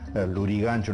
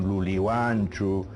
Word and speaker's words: Lurigancho: era Maranga, sino Malanja, Lurigancho no era Lurigancho, sino Luliguancho, en fin, todo era con L, porque había un sustrato aymara que influía en el quechua de la zona.